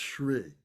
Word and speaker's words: Shri: That's pronounced Shri.